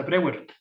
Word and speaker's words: Breuer: a Breuer, o sea, Breuer, Ah, ¿se pronuncia Breuer? hasta donde tengo entendido. No lo sabía. Como Freud, Breuer, o sea, Breuer. como es más o menos la misma tipo de Es pronunciación. alemán, ¿no?